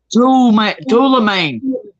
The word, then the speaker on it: tourmaline: Tourmaline, like turning lane.